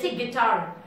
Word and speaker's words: guitar: syllable and weak syllable strong syllables are words sounds guitar guitar word is more loud than g guitar louder tar is louder than G so that makes tar as a strong syllable and G as a weak syllable so it's a combination